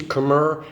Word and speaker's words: Khmer: Khmer, you'll see the word, if you haven't already heard this from me, you'll see Khmer, it's pronounced Khmer, they're the Khmer people.